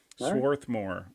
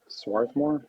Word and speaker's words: Swarthmore: think I'm going with Swathmore on this one. Okay. Sworthmore or however we How do we properly pronounce that? Oh, Swarthmore.